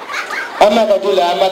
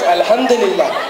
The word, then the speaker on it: Alhamdulillah: Amakadullah. Sir, it is not Amakadullah. It's Alhamdulillah.